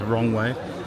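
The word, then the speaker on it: Roewe: It does say Roe on there. The pronunciation in Chinese is Wrong Way, which is a kind of an ironic little twist, that, isn't it?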